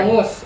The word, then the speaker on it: bangus: bangus, or How do you pronounce it?